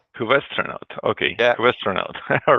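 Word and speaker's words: Kubestronaut: It is a Cubastronaut. Cubastronaut.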